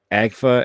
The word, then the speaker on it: Agfa: raymore again anyway uh that's how you pronounce it agfa at least that's how the company says it okay i always say